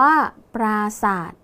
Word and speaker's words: ปราสาท: และ คำ ว่า ศาสตร์ ตัว สะกด คือ ท ทหาร แต่ ออก เสียง พยัญชนะ ท้าย เหมือน ด เด็ก นะ คะ ดัง นั้น